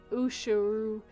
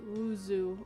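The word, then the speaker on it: oiseau: is sound the way you think it's not usheru it's pronounced wuzu and it it will drive me bad about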